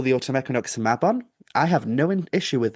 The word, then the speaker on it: Mabon: So it's like Mab on.